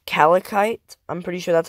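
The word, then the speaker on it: calcite: On like kind of in the middle, it's Calicite. I'm pretty sure that's how you pronounce it.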